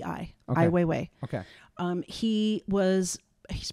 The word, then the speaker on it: Ai Weiwei: name a i w e i w e ai weiwei okay um he was he's probably our age